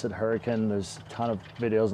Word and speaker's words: Hurricane: in hurricane utah it's spelled hurricane but people pronounce it hurricane there's a ton of videos on the subject